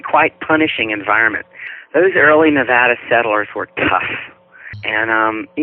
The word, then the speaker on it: Nevada: And I keep forgetting, because I'm from Virginia, I call it Nevada, but you're supposed to say Nevada. It's a flat A.